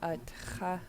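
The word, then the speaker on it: atx̱a: So even though the T and the underlined X are right next to each other, you should still hear both sounds. In English, sometimes we'll mute the T if it's right before another consonant. In Tlingit, we want to hear both of the sounds.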